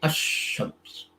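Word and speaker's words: الشمس: Shams means the sun. When you add Al before it, you say Ash-Shams.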